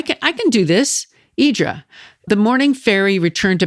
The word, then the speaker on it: Hydra: Idra. The morning fairy returned to Pereas at about 8:00 p.m. It's spelled H Y D R A, but it's pronounced Idra.